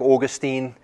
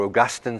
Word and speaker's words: Augustine: It has impacted people like Augustine, or Augustine, some people pronounce that, Wesley, John Wesley, many, many others.